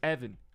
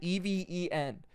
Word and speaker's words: Evan: of the word even my name is Evan EV V an I cannot tell you the amount of times in my life that I have had someone Miss spell it eeen how do you even hear Evan and think it is eeen like even it's it's always blown